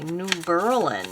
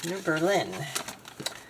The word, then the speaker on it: New Berlin: York I don't and they don't they don't say New Berlin there they say New Berlin that's how they say it up here in Upstate New York New Berlin I'm from New Jersey and we would have said New Berlin but anyway I am